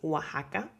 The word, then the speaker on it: Oaxaca: But there are some words where you need to use the X as if it were a J, like Oaxaca.